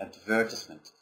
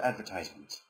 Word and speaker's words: advertisement: you pronounce this advertisement this is the British pronunciation advertisement but American SC of advertisement okay in one of